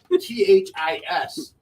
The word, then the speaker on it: Houthis: Well, I'm glad they say it enough, so you know how to say it, because it ain't how it's spelled. It's like Houthis.